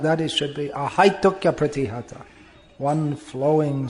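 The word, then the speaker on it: ahaituky apratihatā: This third line is pronounced ahaitukya pratihata. It's one flowing sound, not stopping. Ahaituki apratihata. Not like that, it should be ahaitukya pratihata.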